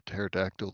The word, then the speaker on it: pterodactyl: A pterodactyl that will never hear in the bathroom because the key is silent.